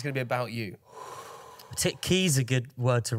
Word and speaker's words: Key: And key rhymes with Fleet.